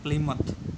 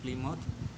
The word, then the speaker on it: Plymouth: में इंग्लैंड की बंदरगाह प्लीमथ, ठीक है, स्पेलिंग है इसकी PLYMOUTH, प्लीमथ, वहाँ से उन्होंने अपनी यात्रा शुरू की।